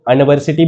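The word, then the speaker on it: university: लेकिन यूनिवर्सिटी इसका उच्चारण किससे हो रही है, कॉन्सोनेंट से, तो क्या बोलेंगे इसको हम, ए यूनिवर्सिटी।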